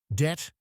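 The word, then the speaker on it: debt: Det and doubt were spelled det and doute from French. Scholars added the B to show the Latin origins, debitum, dubitare, even though nobody pronounced the B.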